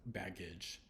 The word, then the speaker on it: baggage: no e but bag the next example is the first one of the soft G so baggage instead of g g- g g so bag the hard G age bage the soft G at the end and it turns into a soft G again because that e is there um and you'll